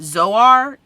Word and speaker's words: Zoar: make it to the mountains he asks that pronounced Zoar to be spared and so they agree they